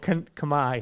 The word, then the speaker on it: Khmer: Oh, Khmer.